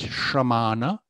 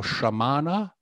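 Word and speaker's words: śramaṇa: as simple as that another word that once again i hear sometimes mispronounced is the word for the wandering ascetics of the time um so uh the word here is samana or sometimes i hear it used as sanskrit which is shramana and once again if you look at the second word there that's the correct spelling not sramana so it's neither samana or sramana but samana or in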